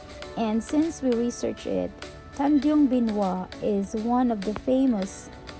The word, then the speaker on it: Tanjung Benoa: Tanjung Benoa.